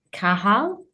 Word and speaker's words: Kahal: Is it Kahal? Did I pronounce that right? You have indeed, Emma. You pronounced it right.